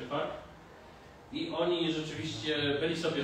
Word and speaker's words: FARC: Tak pisze się FARC, czyta się FARC.